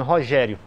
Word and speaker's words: Rogério: decassílabo com o nome Rogério porque a sílaba tônica de Rogério é a segunda e eu preciso que